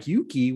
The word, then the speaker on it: UUKI: He's going to talk a little bit more about the tool, because I think people are still like, UUKI, what is that? You know, rhymes with Dookie.